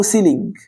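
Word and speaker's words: ceiling: احنا جبنا ايه سقف السقف اسمه سيلينج مش عارف لو كاتبها صح او غلط بس ما علينا يعني هو اسمه سيلين كنطق صح فكك من الاسبانين السقف ده يا صديقي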